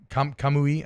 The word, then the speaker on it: Kamui: Kamui, I think is how you pronounce it.